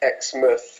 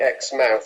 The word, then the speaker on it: Exmouth: I think about half the people around here pronounce it Exmouth very kind of softly, and the other half actually say the word properly, Exmouth.